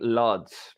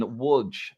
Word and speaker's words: Łódź: I've been saying Lodz in Poland. Yeah. It's actually, the game is in Łódź, Poland. It's spelt Lodz in English language, but it's actually Łódź.